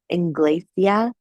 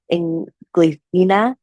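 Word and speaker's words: Inglesina: And this was the Inglacia, I'm saying it wrong, Inglacina fast table chair.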